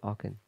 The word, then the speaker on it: Aachen: I think that's the Battle of Aachen. I'm not sure if I'm pronouncing that correctly. It's in Germany. Schlacht von Aachen. Is that where we had a camp meeting? Aachen.